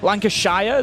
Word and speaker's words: Lancashire: Lancashire. The North Americans tend to pronounce the sh.